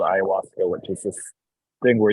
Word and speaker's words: ayahuasca: How do you pronounce it? Ayahuasca.